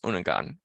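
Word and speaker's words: Unangax̂: referring to them as unangan or unanga uh which is how you pronounce this word by the way the x is shall we say mostly silent is the best way to explain that to an English speaker so unga or unengun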